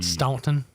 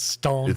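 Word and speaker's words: Staunton: It's spelled S T A N T. Stuntton. O N or I N or whatever. It's Ston. Looks like Stuntton, but you call it Staunt.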